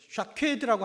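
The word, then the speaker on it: שָׁקֵד: 이 살구나무라고 하는 것이 히브리어로 사퀘드라고 하는 단어입니다. 이 사퀘드라고 하는 단어와 함께 그 뒤에 12절에 나오는 내가 내 말을 지켜라고 할 때 이 지켜, 이것이 쇼케드예요. 그러니까 발음이 굉장히 비슷하죠.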